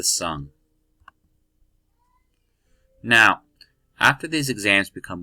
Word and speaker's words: Sung: Alright, so now on to the Sung Dynasty. I know it's spelled like song, but it's the Sung.